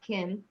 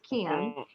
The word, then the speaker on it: Kim: So I walk out and he's like, Kim, because my name in the South is 2 syllables instead of 1. It's not Kim, it's Kim.